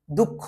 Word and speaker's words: দুঃখ: আমি এইভাবে লিখি দুঃখ, কিন্তু উচ্চারণ করতে গেলে কিন্তু আমি খ প্রথমে আনি, তারপরে আবারও খ এর উচ্চারণটা কিন্তু করি, দুঃখ উচ্চারণ করি আমি।